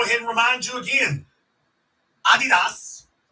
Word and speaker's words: Adidas: and remind you again Adidas the German pronunciation Adidas didn't pull his contract